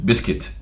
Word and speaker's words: biscuit: Yesterday I saw a couple of words that have been listed that has U in it, but you don't pronounce the U. Biscuit.